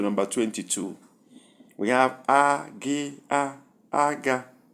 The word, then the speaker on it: aga: We have agi, aga. 2 words are to be considered by their sounds. Number 1, high, high, and the sound is aga, needle.